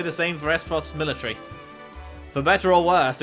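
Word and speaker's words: Aesfrost: You learned about the Grand Duchy of Acefrost. Esfrost.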